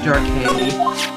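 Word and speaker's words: Darke: It's pronounced Dark A. Dark. There's no accents on the E though.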